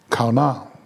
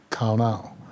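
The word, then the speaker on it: qana: The Hebrew word that was used for envy was kauna, that is pronounced K-A-W-N-A-W, but spelled Q-A-N-A, kauna.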